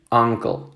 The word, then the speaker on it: uncle: Uncle, aunque se escriba, ¿cierto? Con una U, si yo lo pronuncio, tiene que sonar como que estuviéramos hablando con una A, ¿verdad?